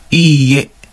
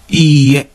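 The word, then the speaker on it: いいえ: Iie. Iie. So, I'll make sure that you extend the E syllable. Iie. Iie.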